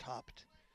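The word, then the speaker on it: Haupt: to Emily no outs runner at first Morgan hopped on the mound it's pronounced h-a-u-p-t but it's pronounced hopped Emily steps out of the box bats on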